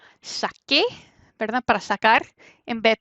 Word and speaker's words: saqué: Y para tener este k antes de e, tiene que cambiarse a la QU, ¿verdad?